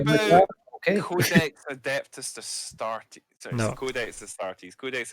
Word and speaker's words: Astarte: Astarte. Yeah. Thank you. I can never even read my own handwriting, let alone pronounce names properly. So think of it this way: ass tart.